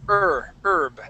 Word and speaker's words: herb: Yeah, this word is herb, and so that H is going to be silent. So the word is herb.